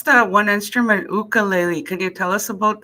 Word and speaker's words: ukulele: is based off of hawaiian pronunciation so they pronounce their use rather than you it's like ooh so it's ukulele same with i think